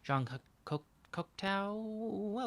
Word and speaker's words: Jean Cocteau: I don't know how to say his name. Jean Cocteau. Okay, good job, Jake. Um. John. I want to say Cousteau, but that's wrong.